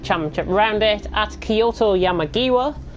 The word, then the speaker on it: Yamagiwa: round it at kyoto yeah Maggie WA and that is the pronunciation and that is the right pronunciation because I've been practicing